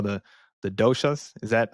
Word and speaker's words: dosha: I think that's what they call the doshas. Is that how you pronounce it? Dosha, dosha.